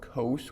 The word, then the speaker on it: cos: We call it cos with a long O.